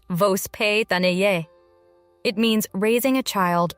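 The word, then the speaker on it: воспитание: A key concept in Russian upbringing is vospitanie, pronounced vospitanie.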